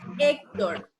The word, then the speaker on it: Héctor: Oh, Exacto, es una palabra grave y lleva el acento en po. Y se tilda porque termina en consonante. en consonante. Héctor.